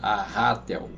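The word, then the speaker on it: arrátel: pronunci de forma diferente tem um assento no segundo a então o certo seria a Ratel né mais não vamos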